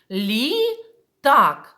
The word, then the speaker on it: літак: наголошений перший склад Тепер давайте візьмемо ось таку іграшку літак розділимо його це назву предмета на склади лі так скільки складів в цьому слові так дійсно дітки молодці два і давайте виділимо наголошений склад літак який склад наголошений в цьому слові так другий молодці позначаємо його теж Ось